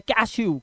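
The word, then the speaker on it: cashew: इसी तरह से जो जो काजू बादाम आप खाते हो, क्या बोलते हैं उसको इंग्लिश में, कैश्यू।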